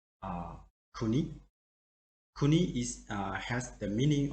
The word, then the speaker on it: 国: as you see here the reading of kuyomi they say kuni and the word we see here you can say kuni if you just see